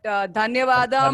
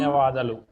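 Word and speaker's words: ధన్యవాదాలు: I don't know how to say it in Telugu, but dhanyavadam. Dhanyavadalu.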